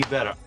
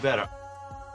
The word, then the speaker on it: better: down shapes of stress the TT here is a flap T the tongue just flaps against the roof of the mouth better better couldn't